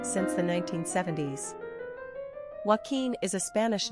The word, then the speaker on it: Joaquin: Pronunciation, Joaquin.